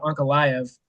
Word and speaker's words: Ankalaev: Alex Pereira versus Magomed Ankalaev. Tyler, that pronunciation was spot on, in case you're wondering. That was dead nuts, brother. That's one of the ones that you see enough that you can pronounce it.